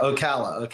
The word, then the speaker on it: Ocala: Yeah, Ocala.